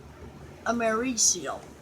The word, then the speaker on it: americium: She pronounces it americium. I pronounce it americurium. Google pronounces it American. Kidda pronounces it americium. So I'm gonna go with americium because that's what the company that puts it in there is called.